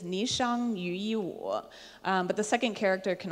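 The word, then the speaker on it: 霓裳羽衣舞: It can be pronounced in two ways. The most common pronunciation is Ni Shang Yu Yi Wu, but the second character can also be pronounced Chang, Ni Chang Yu Yi Wu.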